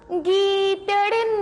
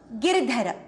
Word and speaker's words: गिरधर: मीरा के प्रभु गीदड़ ना गिर. गीदड़ नहीं, गिरधर.